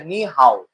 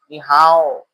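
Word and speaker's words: 你好: এটা চায়না ভাষা হচ্ছে নি হাও। নি হাও। হ্যা চায়না ভাষা কিন্তু নি হাও। এভাবে উচ্চারণটা হবে। নি হাও এরকম না নি হাও টান হবে তো হ্যালো যেরকম আছে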